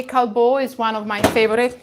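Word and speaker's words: Callebaut: use instead of the wafers i will say kalbo is one of my favorite you can find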